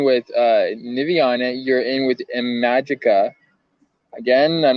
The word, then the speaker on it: Imagika: You're in with Imagika.